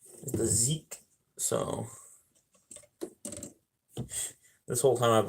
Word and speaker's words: Zeke: Zeke, I believe is what I was told it was pronounced as. The Zeke.